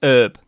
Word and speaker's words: herb: to go in because obviously you guys pronounce it herb don't you um without the h which when i first